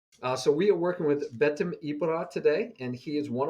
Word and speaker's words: BetimIbra: We're going to have a one-on-one lesson today with BetimIbra. Did I pronounce that right?